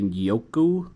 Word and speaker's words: Njoku: I don't think you pronounce the N. I would maybe say Yoku.